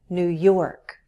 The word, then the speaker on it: New York: For example, all the states with new have stress on the syllable that immediately follows. New Hampshire, New York, New Jersey, New Mexico.